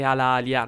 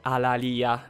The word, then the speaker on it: Alalia: vi dirò Secondo me la pronuncia corretta è alalia non alalia perché alalia a quanto ne so È un termine utilizzato Nel gergo tecnico medico quindi